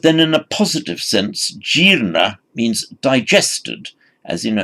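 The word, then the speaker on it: jīrṇa: The past participle of jr, it lengthens makes a long e followed by r, jirna. And jirna, even modern Hindu, they use the same, jirna meaning something is decayed or rotten.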